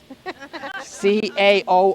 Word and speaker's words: Caoimhe: You know, Siobhan and Tig, T-A-D-H-G, Tig, and Caoimhe, C-A-O-I-M-H-E, Caoimhe.